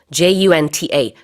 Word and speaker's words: junta: 또 다른 표현으로 military junta라고도 하죠. J-U-N-T-A, junta라고도 발음합니다. 다 발음은 가능하고요. 같은 얘기예요.